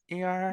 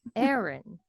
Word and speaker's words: Aaron: Aaron or ER? No, Aaron.